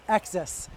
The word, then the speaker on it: XS: one called the XS it's like tennis XS okay so I don't